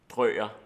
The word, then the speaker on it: Drøger: Det udtales faktisk Drøger.